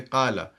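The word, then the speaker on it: قال: So instead of saying kavala, the real way to say it is kavala, but you will not say kavala, you'll actually say kala.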